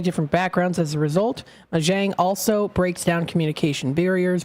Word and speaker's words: Mahjong: So let me look at the pronunciation. Mahjong?